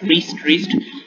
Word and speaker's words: wrist: So there's W, we don't pronounce the W, we pronounce wrist like Tryst.